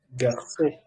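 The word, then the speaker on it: garçons: En plural sería le garçon. Eso significa los chicos. La S final no se pronuncia, como digo, siempre, como 80% de las consonantes cuando van al final en francés no se pronuncia.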